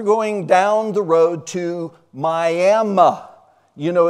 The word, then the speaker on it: Miami: But the technically the right pronunciation apparently of this little town is Miami, and Main Street, right